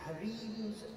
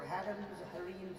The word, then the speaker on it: harem: carpet these trees histories in the harims or harams whichever pronunciation you prefer and sadly those harems